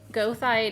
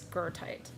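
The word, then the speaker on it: Goethite: Goite is is is it's go o e t hi t e I believe but it's pronounced if you pronounce it correctly in German it's gertite.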